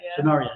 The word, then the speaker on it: Scenaria: Scenaria, we were asking last night how to say her name because we weren't sure, and it was Scenario, but no A, no O, but an A. Yeah, Scenaria, yeah, Scenaria.